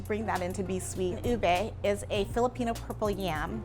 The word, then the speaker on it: ube: on the menu board, people would come up, you know, and say, I'll have the UBE, because that is how it's spelled. Or I'll have the ube. So we had to educate them. It's called ube, and this is what it is.